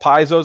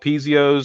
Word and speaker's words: Piezo: Piezo is how it's pronounced. They all sound amazing, right? It's like that's a tomato kind of thing. I've heard them called Piezos. I've heard them called Piezios. So, you know, take your pick.